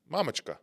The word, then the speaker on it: Mamochka: Say it with the correct pronunciation. Mamochka. No, that's how you say it? Mamochka.